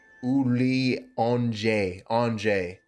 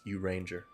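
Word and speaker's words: Urianger: Uli Anjay. No, it's pronounced Uranger.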